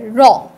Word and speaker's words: রং: রং, রং পুরোই উচ্চারণটা র সাথে অং, রং।